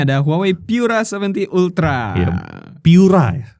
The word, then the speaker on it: Pura: Piura. Piura. Cara baca yang bener Piura. Bukan Pura. Bukan Pura.